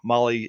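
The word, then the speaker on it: Mahle: And you guys know Molly is spelled M A H L E.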